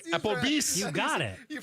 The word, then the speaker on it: Applebee's: Applebee's? Is that the name of it? I think that's what he said. Did I say it? Did I pronounce it correctly? Applebee's?